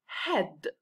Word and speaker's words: head: not say its name we're going to hear a short e sound instead like for example head head look at the word